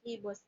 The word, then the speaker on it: gibbous: The pronunciation of this is Gibbous. J-G, Gibbous, not Gibbous. It's Gibbous.